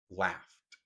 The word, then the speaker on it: laughed: Entonces, ese va a hacer que la pronunciación de la ED cuando se lo agregamos suene como una T.